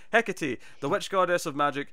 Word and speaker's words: Hecate: Oh, Hecate. Hecate. Alright, see, I never would have got that. There you go. Right, Hecate, the witch goddess of magic, it's Greek.